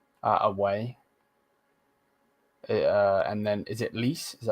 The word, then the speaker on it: Lecce: And then is it Lis? Is that how you say it? Lis? Lecce.